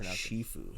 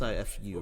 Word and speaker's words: Sifu: I think it's pronounced Shifu. Shifu. There's no H, but I think it's pronounced Shifu. It's Sifu, right?